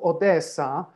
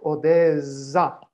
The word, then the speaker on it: Odessa: the other languages and when you take the word of odessa then it's with two s in russian with one s in ukrainian now if you write it in german with one s we are obliged to pronounce it like odessa and i think it's